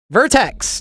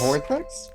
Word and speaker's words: vertex: No, it starts with a V, but it rhymes with I don't know, latex or something, or vertex. Yes. Vortex.